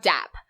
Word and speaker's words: DApp: Next, we have DApp, which is spelled D-A-P-P, not D-A-B-B.